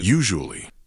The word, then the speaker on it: usually: The first syllable, you, like the word you. Then jou. That zh sound is the same as the S in measure or pleasure. Then ali. The last part is soft and quick.